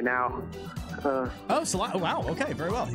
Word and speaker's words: Salida: I'm in Salida right now. Salida.